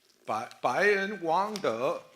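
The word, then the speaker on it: 背恩忘德: 그 바이엔 왕더 이게 무슨 말인지 아십니까? 중국식으로 배은 망덕을 제가 발음해 봤습니다. 예, 그 덕이 더 이렇게 내려가야 돼요.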